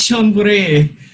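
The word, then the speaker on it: Chonburi: Uh, so Jolpuri. Oh, it's Shonburi.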